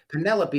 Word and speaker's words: Penelope: Penelope, not Penelope or whatever she said. Penelope is how you pronounce it.